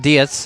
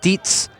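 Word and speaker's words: Dietz: Not Diets. You know it's spelled D I E Ts TZ, excuse me. Sounds like Diets, but it's pronounced Deetsz.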